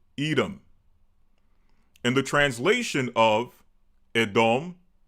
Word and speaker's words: Edom: Well, in English, we pronounce it Edom.